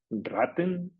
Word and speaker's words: Raten: de su padre porque en alemán raten es cuota pagar una cuota y raten que se pronuncia casi igual quiere decir ratas en plural se escribe igual salvo que raten se escribe con dos tes y con una a más corta precisamente porque lleva dos tes y raten con una